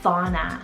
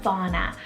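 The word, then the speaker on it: Fawna: and peace animal name here next i have fauna spell f-a-w-n-a fauna this is also one of my favorite animal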